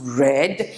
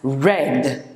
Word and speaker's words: read: komlakula rush i read it's pronounced red but um it's still written as read exactly like this but in the past tense or um you know it is still written or pronounced as red so you have read